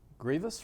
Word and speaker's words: Greavis: the house we've uh had the quarterback Connor Grievous right I finally said it right man people